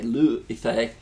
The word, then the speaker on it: Liu Yifei: I looked it up, I Googled it, and they pronounced it that way, Liu Yifei.